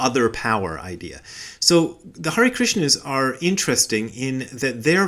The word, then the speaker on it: Krishna: the of the Hare Krishna movement, the guy who founded the thing, and he always pronounces it Krishna. He puts the accent on the na, so maybe that's the proper way to pronounce it instead of Krishna.